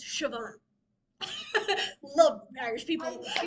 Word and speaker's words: Siobhan: Sio spelled out, it's it's not Sabon, it's Siobhan is how it's pronounced. But anyway, there's a name that's PR that's spelled S I O B A H N. Sabon, but it's not Sabon. It's Siobhan.